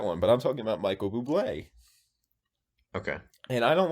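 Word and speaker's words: Bublé: go over that one but i'm talking about michael buble okay and i don't like that actually actually it's pronounced bubbly i don't like michael bubbles he i think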